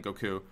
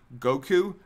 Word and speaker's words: Goku: Also, when did I start emphasizing the first syllable in Goku? It's actually a little bit later on. I said Goku a lot because it